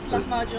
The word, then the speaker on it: lahmacun: Did I pronounce it correctly? Yes, lahmacun.